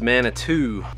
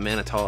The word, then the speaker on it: Manitou: So it's Mana 2. I would have thought Manito as well.